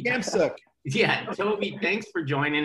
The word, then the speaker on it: Khamsouk: I switched the K and the T. Toby Khamsouk.